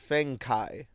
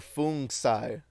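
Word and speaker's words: Fengcai: On Android devices, officers installed an app called Fengkai. Oh no, it's pronounced Feng or Fung Sai.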